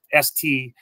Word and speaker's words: Strahan: It's S-T-R-A-H-A-N, but they pronounce it Strahan. So his first name and last name kind of rhyme.